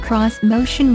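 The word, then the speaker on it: X-Motion: on Japanese design elements this motion pronounced cross motion was designed to have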